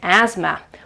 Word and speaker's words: asthma: Okay you pronounce it asthma. Why did you have to put a th in the middle of the word for god's sake?